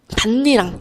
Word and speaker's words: 밭이랑: 그래서 밭이랑은 밭 반리랑 요렇게 발음이 된다라는 이외적인 경우도 반드시 같이 기억을 해 주셔야 합니다.